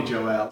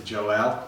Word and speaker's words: Joelle: I would have pronounced it slightly different to Joelle.